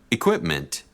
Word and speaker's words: equipment: Equipment. Equipment. Equipment. On the second syllable, equipment.